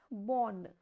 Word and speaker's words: bonne: So, when E is at the end, it has no pronunciation.